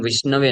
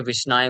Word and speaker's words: विष्णवे: तो कभी कभी वो लोग विष्णवे न बोल करके विष्णाय बोल देते हैं, ओम विष्णाय नमः।